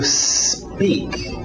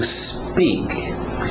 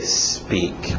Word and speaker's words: speak: To speak. To speak. Cuidado com essa pronúncia. A tendência desse S antes do P, quem fala português, é querer colocar uma vogal de apoio, dizer to speak, porque a nossa letra